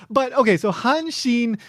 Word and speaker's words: Hanshin: becomes Han, and then Shin is the first kanji of Kobe, which is pronounced Shin in this case, so Hanshin Tigers.